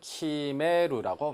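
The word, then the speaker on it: 決める: 일본어로 키메루라고 발음합니다.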